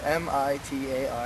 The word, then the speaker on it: Mitar: Mytar. Excuse me? Mytar. Pronounce it again, please. It's spelled M-I-T-A-R. No, please say it with the accent. And everything. Mitar. Yeah, Mitar. Thank you very much.